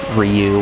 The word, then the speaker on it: Ryu: that in all seriousness I would pronounce it Ryu as in Ryu from Street Fighter Ryu he abusa from